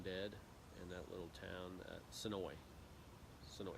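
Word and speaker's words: Senoia: in that little town, Sonoy. Sonoy. It's got an A on it, but they pronounce it Sonoy, not Sonoya.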